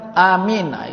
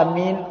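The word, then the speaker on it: آمين: Kemudian yang kelima, wa qaulu amin, mengucapkan amin. Itu sunat hayat juga, mengucapkan amin. A-nya 2 harakat dibaca, min-nya itu 2 boleh, 4 boleh, 6 boleh, ya. Itu cara baca amin. Jangan dipendekkan A-nya itu.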